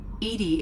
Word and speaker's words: EDI: Edie is the phonetic pronunciation of E-D-I. That is an acronym for Enhanced Defense Intelligence.